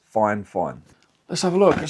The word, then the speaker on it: FIFINE: I've been told that it's pronounced FIFINE. Now, I would have said FIFINE, because there's no N, there's no E, but they have told me it's FIFINE.